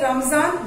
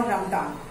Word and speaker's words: Ramadan: Okay, but if you say Ramzan, then also it is correct, Ramzan or Ramadan.